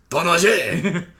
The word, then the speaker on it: Tinashe: Tinashe! Say it like Ganache. Tanache.